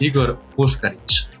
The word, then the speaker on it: Igor Puskaric: me, a special guest today, a returning guest, Igor Puskaric. Right? Incorrect. Almost. For the good people out there, why don't you pronounce it so that we get it right for the rest of the podcast? Igor Puskaric.